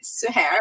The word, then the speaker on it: Suher: I've been called 10,000 different versions of Suher, but it's Suher. It's said the way it's spelled.